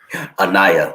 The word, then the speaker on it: Anaya: Anaya? Anaya, yeah.